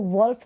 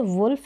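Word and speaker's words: wolf: आपको बता दिया है उसको वुल्फ ना पड़े क्या प्रोनाउंस करेंगे वुल्फ इसका करेक्ट प्रनंसीएशन है तो चलिए नेक्स्ट टूल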